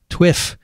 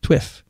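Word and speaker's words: TWiPH: week in public health pronounced twiff t-w-i-p-h twiff and if it helps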